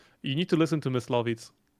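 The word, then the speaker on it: Myslovitz: You need to listen to Miss Lavitz. Okay. Oh, what is it? What is it? Mitz. It's spelled weird.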